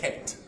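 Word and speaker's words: חית: Which is right from the throat, like you're hawking up some stuff. Het, right?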